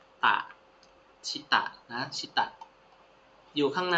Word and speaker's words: 下: นก ขยาย อ่าน ว่า คัน นี้ อ่าน ว่า ชิตะ ชิตะ คันจิ ตัว นี้ อ่าน ว่า ชตะ นะ